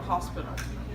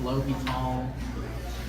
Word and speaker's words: L'Hôpital: It's called the hospital. Actually, it's pronounced L'Hôpital. It's not the hospital.